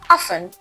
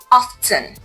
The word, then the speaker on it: often: The final word for today is often. In this word, the T is silent, so you say often, not often.